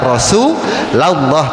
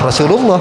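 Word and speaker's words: رسولَ الله: Asalatu wasalamu alaika ya rasulallah. Jangan Rasulullah enggak boleh gitu ya.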